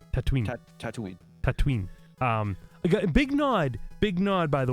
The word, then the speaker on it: Tatooine: Because like Tatooine, you got to say it like Boba says it. Tatooine.